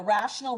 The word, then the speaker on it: rational: to let you know rational rhymes with fractional so 3 can be